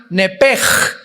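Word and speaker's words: נפש: el hebreo es nepesh, se pronuncia nepej, la CH en hebreo se pronuncia como J, nepesh, murió.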